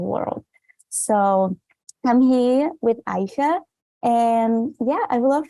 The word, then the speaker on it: Aisha: I hope I'm pronouncing right. Is Aisha? It's Aisha.